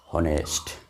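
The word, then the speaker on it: honest: এটাকে semi vowel বলতে থাকে, কারণ অনেস্ট, অনেকটা ওয়ের মতন উচ্চারণ, অনেকটা ভাওয়েলের মতন উচ্চারণ।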